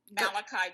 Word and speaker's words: Malachi: You pronounce it Malachi. Malachi. Just because I know you'd want it right, and you'll be probably saying it. Perfect. It's Malachi, so I don't mean to be critical.